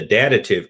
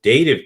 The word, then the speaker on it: dative: class and was corrective i called it the datative case it's not it's the dative case and there are different